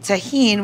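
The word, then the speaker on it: Tajín: are going to use a little bit of tahin which is one of my favorite um spices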